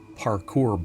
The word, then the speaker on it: parkour: you'll enjoy that one Parker bot strike that I mispronounced that parkour bot uh AI for security